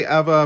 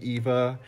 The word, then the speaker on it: Eva: I say Eva, but the correct pronunciation would be Eva. I've just always said Eva because, you know, Florida got that accent.